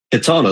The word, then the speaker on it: Katana: And, it's Katana, like Solana, but Katana.